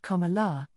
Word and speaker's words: Kamala: And a note on her name, Carmela is pronounced Kala, and it means lotus flower.